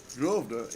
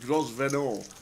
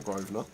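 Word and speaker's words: Grosvenor: And now now I'm Grovener. We've got groven or groven. The S is silent.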